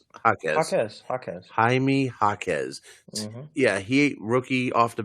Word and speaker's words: Jaime Jaquez: Jaime Jaquez. How do you pronounce his name? Jaquez. Jaime Jaquez.